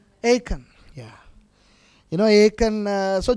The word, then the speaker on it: Achan: Do you pronounce Achan? Achan, yeah.